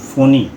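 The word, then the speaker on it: Fani: যেটা আমরা উচ্চারণ করছি ফনি। যদিও স্পেলিংটা হচ্ছে এফ এনই। কিন্তু আমরা বলছি ফনি।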